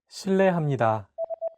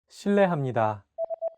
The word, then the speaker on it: 실례합니다: R and an L, don't pronounce it like an English R. Listen to how J is pronouncing this sound. 르, It sounds like a mixture between an R and an L sound.